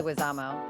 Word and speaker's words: Leguizamo: I always say his last name wrong, but Leguizamo. Leguizamo.